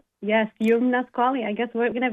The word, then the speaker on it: Youmna Squalli: So, I want to make sure we get the pronunciation correct. I love it. It's Yumnasquali. Yum. Yes, Yumnasquali.